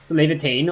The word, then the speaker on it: Levitain: Levitain or Leviathan, you know, that's the Japanese pronunciation for Leviathan.